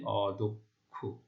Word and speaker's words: অদক্ষ: যেমন দেখো, মধ্য অ দ, তারপর ক্ষীয় রয়েছে, তাহলে মধ্য অ এর উচ্চারণ ও এর মতো হচ্ছে অদক্ষ।